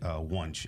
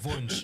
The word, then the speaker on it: Wunsch: of world-class musicians, Wunsch and Julia Bruskin. Why does it sound weird when I say Wunsch? Am I saying it properly? You're saying it correctly. Oh, so in German, it's Wunsch originally.